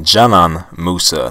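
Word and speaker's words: Džanan Musa: that so according to the pronunciation here it's pronounced German Musa not the sonim that's the way I was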